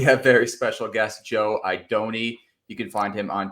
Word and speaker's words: Idone: week's show we have very special guest Joe idoni you can find him on Twitter at tourpix